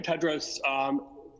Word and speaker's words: Tedros: for the question in the correct pronunciation of my name is dr. Ted Rose greetings to you again